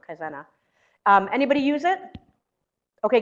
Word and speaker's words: Kaizena: kind zena zen yes kizena i always say it wrong kaizena um anybody use it